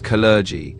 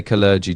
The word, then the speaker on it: Kalergi: The most common pronunciation is Kalergi, so the emphasis is on the second syllable. Some might say clergy too, but clergy is the one you'll hear most often.